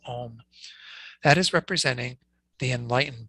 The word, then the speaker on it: Om: So it starts off with ah, then it gets the O, and then it has the suffix of the M, the ma sound. And so essentially we have these 3 things that are together in this one syllable Om.